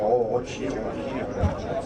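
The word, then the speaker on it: Rocchi: L'ingénieur il s'appelait Rocci, on prononce à l'italienne. Voilà. L'accent italien.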